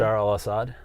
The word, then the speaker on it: Bashar al-Assad: Bashar al-Assad?